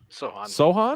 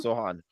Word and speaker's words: Sochan: Jeremy Sochan. Is it Sochan or Sachin? Sohan. Sohan. Like that Zohan. C is silent.